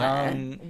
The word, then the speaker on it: Jung: Is that how you say it? Oh, I think it's Young.